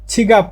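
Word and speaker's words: 지갑: সিগাপ মানে money bag এটা তো জিউ আমি আবার ছি উচ্চারণ করতেছি এর কারণ হচ্ছে প্রায় ছ এর মত উচ্চারণ করে আপনার লিসেনিং এ শুনবেন তাহলে আপনি ছ দিয়ে উচ্চারণ করলে লিসেনিংটা আপনার ভালো হবে এজন্য ছ দিয়ে উচ্চারণ করাটাই ভালো ছিপ মানে মানি ব্যাগ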